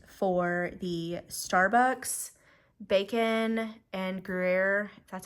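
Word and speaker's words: Gruyère: on the hunt for the Starbucks bacon and grer that's how you say it um egg bites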